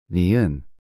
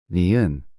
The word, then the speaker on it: 니은: To pronounce this sound, place your tongue on the roof of your mouth, just behind your upper teeth, and push air out through your nose, making a sound similar to N in no.